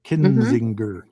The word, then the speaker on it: Kinzinger: Kinzinger. I think I trip up because I grew up on Kissinger.